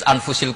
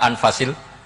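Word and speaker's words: أنفس: Di sini ditulis anfusil kutub. Selalu saya baca anfasil kutub karena maknanya kitab terbaik. Kalau kitab terbaik bacanya bukan anfus tapi apa? Anfas.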